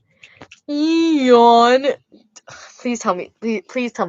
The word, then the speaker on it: Eon: You It's That's how you pronounce it. Eon. Eon.